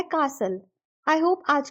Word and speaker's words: castle: वाले सेंटेंस में भी हमने कासल को यूके इंग्लिश के अकॉर्डिंग प्रोनाउंस किया है और उसको दो सिलेबल्स में डिवाइड किया है का और सल में जहां पर टीएल ई की प्रोनाउंस यूल हो जाती है और वह बन जाता है कासल आई होप आज की